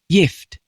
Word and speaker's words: gift: how you say it in Old English it was pronounced yft but it spelled g f in both old and